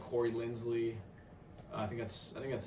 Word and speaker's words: Corey Linsley: You look at someone maybe like Corey Linsley. I think that's how you say his name, right? Corey Linsley. Yeah, Corey Linsley.